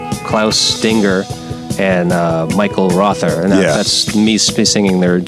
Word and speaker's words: Rother: that's me singing their saying their names in English, which I think that has a more of a Germanic, uh, uh pronunciation rother is the way I say it.